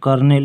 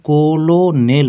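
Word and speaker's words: colonel: इसका कितना अलग है ऐसे हम लोग कोलो नेल पढ़ेंगे लेकिन इसको पढ़ा जाता है कर्नल सी ओ एल ओ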